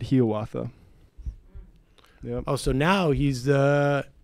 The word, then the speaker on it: Hiawatha: asking last week but is it really he author as opposed to hiawatha that Longfellow himself pronounced that he oughta oh so now he's